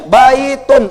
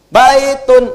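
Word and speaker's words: بيت: Walaupun harakat ujungnya un ya baitun. Un misalnya jangan dibaca unnya baitun. Wah enggak orang Arab enggak akan dengar bait.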